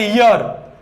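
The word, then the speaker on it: year: इसका सही प्रोनाउंसिएशन होता है ईयर, ईयर होता है ईयर। ध्वनि किसकी आई, यह की आई। यह क्या हो गया, एक कॉन्सोनेंट साउंड हो गई, कॉन्सोनेंट साउंड के साथ में क्या आएगा, ए आएगा।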